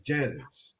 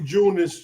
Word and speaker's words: Janus: not J no no I thought it was JN too it's Janice it's for January it symbolized the month of but anyway you could pronounce it like that if you want it could be junis too so yeah I'm telling